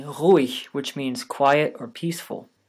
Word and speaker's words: ruhig: Even German G is sometimes pronounced this way, like in ruhig, which means quiet or peaceful.